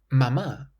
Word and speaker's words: mamá: Mama has an accent on the last A and it's a familiar affectionate word.